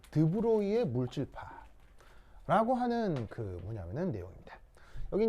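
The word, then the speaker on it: de Broglie: 사람이 이제 프랑스 사람이어가지고 이름이 좀 드브로이 뭐 이렇게 읽나 봐요. 그래서 이제 끝 어미가 이러면, 근데 불어는 배우질 못해가지고 발음을 명확하게 모르는데, 하여튼 보통 읽을 때는 드브로이 이렇게 읽습니다.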